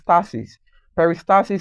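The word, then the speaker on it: peristalsis: process known as peris perisis is spelled p e r i s t a l s i s and which is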